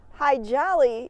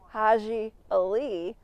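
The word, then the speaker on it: Hadji Ali: And actually, High Jolly really isn't how you pronounce his name. I believe it's Haji Ali.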